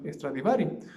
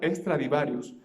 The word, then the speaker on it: Stradivari: nada más generalmente del famoso antonio stradivari o como algunas personas lo saben también pronunciar este extra de varios es digamos durante un